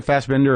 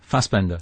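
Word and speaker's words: Fassbender: you're talking about Fastbinder does he pronounce it fast bender or Fastbinder? Fastbender. Fast bender.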